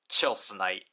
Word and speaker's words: Tilsonite: chilite but it's officially romanized as Tonite but pronounced as chilite so here we have the chilite sword out